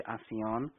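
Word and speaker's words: Alcyone: I know it's written with an L, but the way the sound comes from the other side, the L is not pronounced, so it's actually ASEAN.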